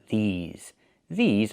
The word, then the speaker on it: these: Make the long e sound like green beans. E. These plus the zz sound like zebra. These these are cars.